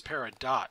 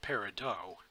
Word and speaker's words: peridot: universe fans are thinking it's peridot not peridot technically either pronunciation is legit you know Applejack Rainbow